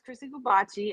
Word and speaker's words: Chrissy Goobache: yeah yeah so everybody um my name is chrissy gabachi as we've stated you spell it c h r i s s y